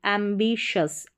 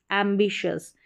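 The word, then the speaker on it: ambitious: AM को MBI को बी, एम्बिशस, एम्बिशस।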